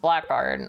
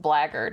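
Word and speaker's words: blackguard: but I was like I pronounced it blackard until I heard somebody say it out loud in the game and they said blackard and I was like that's not how that's spelled there's no G's in it you come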